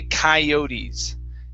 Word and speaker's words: coyotes: Okay, so this is the first part of this is actually kai. So we say coyotes. Okay, I don't know why we have that pronunciation, but we do. Okay, so it's coyotes.